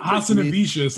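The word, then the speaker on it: Hazanavicius: Hassanavicius, and I thought you were going to say Scott Close.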